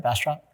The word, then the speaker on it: Bastrop: Did I pronounce that right? Bastrop?